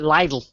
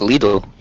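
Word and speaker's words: Lidl: MH every little advert they call it lle which is wrong it's Le it's needle little it's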